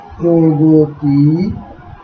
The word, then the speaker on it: প্রগতি: এরপরে আরো আরো বেশ কিছু উদাহরণ আমরা দিতে পারি, যেমন প্রগতি, সেখান থেকে তোমরা দেখতে পাচ্ছ হ্রস্বইকার যুক্ত হওয়ার কারণে এখানে এই মধ্যবর্তী অ ওকারে পরিণত হয়েছে এবং এই মধ্যবর্তী গ এর ওকারে পরিণত হয়ে গতি না হয়ে গতি হয়েছে।